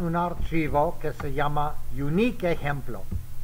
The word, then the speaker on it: uniq: Pero es la manera que se escribe y se pronuncia unique.